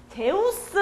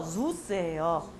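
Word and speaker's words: Zeus: 제우스 아니고요. zu스예요.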